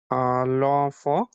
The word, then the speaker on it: l'enfant: L'enfant. L'enfant, right, l'enfant, correct, last is silent, l'enfant, good।